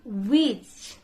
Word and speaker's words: which: Like which. Just silent H.